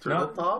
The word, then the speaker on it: Turteltaub: Turteltaub?